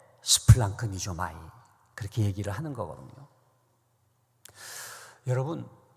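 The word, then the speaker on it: σπλαγχνίζομαι: 스플랑크 니조마이. 좀 어렵죠? 한번 따라 합시다. 스플랑크 니조마이.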